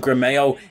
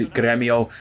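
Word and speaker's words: Grêmio: gremio i'd love that i was calling them grameo in the last episode but i have touched up on my pronunciation a little bit of portuguese and brazilian names and i believe it is gremio so i will start saying that instead of grameo and so let's see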